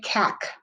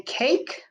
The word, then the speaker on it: cake: cake c a k silent e or magic e to make the a say its name cake is number one if you didn't have the e at the end it would say cac we want it to say cake so the silent e